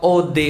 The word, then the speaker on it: eau de toilette: sama banget eau de toilette adalah kode toilet bacanya e-awb atau Ode saatnya air toilet toilet Kenapa namanya air toilet